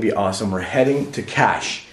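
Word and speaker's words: Kaş: We're heading to Cash. It's called Cash. It's cash, spelled like K. Money? Yeah, Cash like money, but it's spelled K-A-S.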